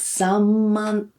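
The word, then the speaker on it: 三万: We write san man, but we pronounce it as samman. So n in front of m becomes m.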